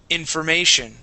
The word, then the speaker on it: information: two stresses okay economics information okay you can barely hear that four there information all right and I get get to that Ma and I press into it a little bit more okay that how